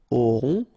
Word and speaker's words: auront: Then, ils auront, final T not pronounced, O-N together, on, auront, okay.